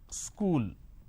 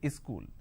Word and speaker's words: school: to America for example the word which is School there are two syllables KU Le School but in in places like uh up Bihar jharkhand they add another syllable they pronounce this as school wherever there is a word that starts with The Sur sound they add a e in front so instead of saying school they say is cool something like this happens